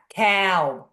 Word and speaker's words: Kalb: It's a Bronx A. Kalb. Kalb. Yeah, my husband's from the Bronx. They pronounce it Kalb.